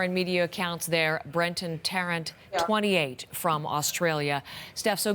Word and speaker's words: Tarrant: wasn't sure we haven't heard this fellow's name pronounced so in australian media they're calling him brenton tarrant terence thank you very much it looked like durant but i will correct myself going forward now